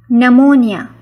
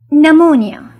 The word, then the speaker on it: pneumonia: tract infections such as pneumonia pneumonia p is silent pneumonia pneumonia it is defined as